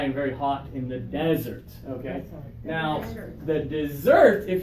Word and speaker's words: desert: in the desert okay desert yeah so we need the strong first syllable when we're talking about the place that you go uh to um let's